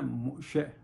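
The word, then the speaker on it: משה: اب اسی طرح حضرت موسیٰ کا نام عربی میں ہے موسیٰ, لیکن جو اصل ورڈ ہے ہبرو میں وہ ہے موشے, موشے.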